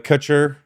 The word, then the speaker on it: Kutcher: You're promoting your Rick uh Kutcher. Yep. Did I pronounce that correctly? Rick Cuter Consulting.